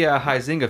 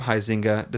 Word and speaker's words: Huizinga: ze in GA but the U is silent oh that's a different noise Whois anus yeah yeah poising a sorry causing us know the huizinga family they're from the